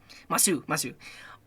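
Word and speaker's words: ます: japanese mr i know you don't usually pronounce like the use on the end of uh like japanese masu okay let's keep moving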